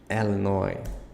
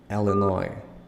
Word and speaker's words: Illinois: Hawaii Idaho Idaho Illinois look it's not Illinois it's Illinois Illinois Indiana Iowa Kansas look